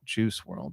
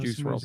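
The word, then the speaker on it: Juice WRLD: I typed in Fortnite rapper skin that died and Juice World came. Juicew World was his name. Not spelled like you would think it would be spelled.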